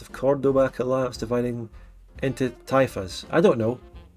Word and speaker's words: taifa: It's Caliphate Lords of Cordoba collapse, dividing into taifas. I don't know. I've got in the chat Thai fast is how the pronunciation is. Okay. Taifa.